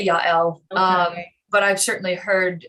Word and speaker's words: Jael: story um i yeah i tend to pronounce j's with a with a y sound a lot of people